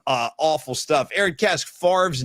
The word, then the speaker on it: Favre: going to say to see I don't need to see pictures of Brett Favre's Mississippi freckle covered junk.